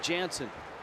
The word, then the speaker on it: Jansen: When Jansen got to the Dodgers and was converted to a pitcher, everyone called him Kenley Jansen. And when I saw him a couple years ago, I said, "What happened, Kenley? You used to be Jansen." He said, "Well, I got tired of correcting everyone."